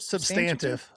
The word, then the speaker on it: substantive: But to hear something substantive, is that the right word? Substantive. Substantive. That's what you were shooting for. I was trying to add in a syllable on the wrong emphasis.